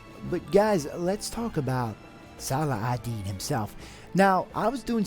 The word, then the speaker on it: Salah al-Din: part of the world, it's pronounced more Salahadin. So I thought it would be really cool if for this episode we'd pronounce it the Islamic way, Salahadin, and in the first episode we pronounced it the more European way, Salahadin.